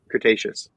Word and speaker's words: Cretaceous: Is that how you pronounce it? Cretaceous.